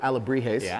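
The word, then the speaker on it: alebrijes: now we're here with a lot of beautiful a labrie haze I said it right this time yes yes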